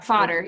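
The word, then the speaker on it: Vater: how vader is spelled is father in german actually yeah fodder yeah so it's a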